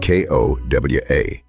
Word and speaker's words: ko-wa: The fifth example is KOWO and KOWA, 2 short words differing in a single final vowel.